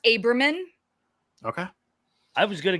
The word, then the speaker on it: Abramyan: It's pronounced Abramyan.